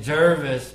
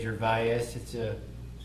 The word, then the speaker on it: Gervais: Emil calls me Gervais, but that's not how you pronounce it. It's actually Gervais.